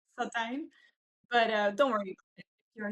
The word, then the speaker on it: Satijn: And then my last name is it's a little bit tricky. It's Sottine, actually. Sottine.